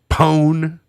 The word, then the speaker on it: pwn: Pwn, like PWN, when it's pronounced like own, pwn.